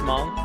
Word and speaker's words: Hmong: Pronounced Hmong. H-Mong.